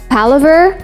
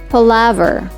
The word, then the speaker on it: palaver: talk or chatter not palover where the stress is in the second syllable say it as palaver bibliopole a bookseller especially